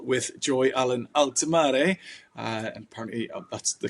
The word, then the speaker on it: Allen-Altimare: I'm on a call with Joy Allen-Altimare, and apparently that's the correct pronunciation.